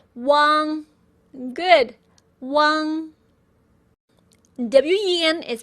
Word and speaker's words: wen: WEN is pronounced as wen.